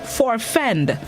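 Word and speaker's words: forfend: see this morning's word of the day is for fend for fend it's spelt f-o-r-f-e-n-d for fend it's a verb which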